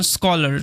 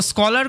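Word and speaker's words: scholar: যখনই দেখবে এস এর পরে সিএইচ আছে, তখন সিএইচ এর উচ্চারণটা সাধারণত কয়ের মতো হয়, এটা মাথায় রাখবে, তাহলেই হবে।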